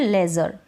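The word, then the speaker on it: leisure: फिर है ई आई को ए और ए के रूप में पढ़ते हैं। अब यहां पर इन स्पेलिंग्स में इ आई है तो हैफर। इसको पढ़ रहे हैं हैफर और इसको पढ़ रहे हैं लेजर। हैफर और लेजर। जैसे ये ऊपर ए की मात्रा है ना? ए की मात्रा है यानी कि ए है। क्या है? इ आई का उच्चारण ए।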